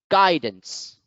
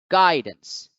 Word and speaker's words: guidance: read it out loud so guidance guidance again the first syllable here is accented because